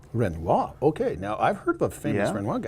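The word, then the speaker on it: Renoir: no no it's uh the the pronunciation is renoa renoa okay now I've heard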